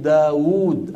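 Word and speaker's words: داود: ما هي موجوده الواو مثل داوود ايضا هذه الواو ما هي موجوده وور مرت معنا منذ قليل لا بد ان ننطقها ولو لم تكن موجوده في القط الياء مثل فما اتاني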